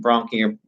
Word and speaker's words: bronchi: Bronchi looks it's B-R-O-N-C-H-I, bronchi, and they kind of go into these called bronchioles.